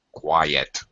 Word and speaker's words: quiet: quite is one syllable Qui yet is two syllables we separate the I and the e in the word with a Y sound What's um so it's actually two syllables quiet totally different pronunciation but